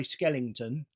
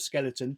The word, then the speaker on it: skeleton: really do I have a tendency to say Skellington instead of skeleton Pacific instead of specific